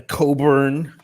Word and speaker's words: Cockburn: sometimes it's like like a Coburn is is spelled cockburn but you know it sounds awful nice hey guys I'm keeping